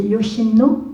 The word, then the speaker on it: Yoshino: de alors je vaêtre mal prononcé c'est Yoshino on dit comme ça oui et quand il